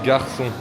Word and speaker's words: garçon: Ça fait 10 minutes que j'essaie de lui faire prononcer comme des garçons. Comme des garçons. Garçon. Garçon. Ga like Ga Say gay. Gay ga. Gay ga. Gay ga. And then r.